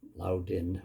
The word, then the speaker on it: Loudoun: Loudoun County School Board that's um loud in I guess it's pronounced you may have heard of